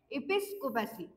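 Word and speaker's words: episcopacy: pronunciation काय आहे तर याचं प्रोनाउंसिएशन आहे इपिस्कोपॅसी ओके इपिस स्कोपॅसी तर याची स्पेलिंग काय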